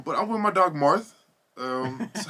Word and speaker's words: Marth: spell it like marth yeah but you don't pronounce the h what's up with that no i say i say marth oh you do yeah oh i mean i